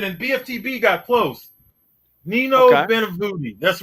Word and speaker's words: Benvenuti: Nino Benevuti. That's right. Well, there you go. He defeated Nino Benvenuti. Let me make sure I say it right. It's Benvenuti.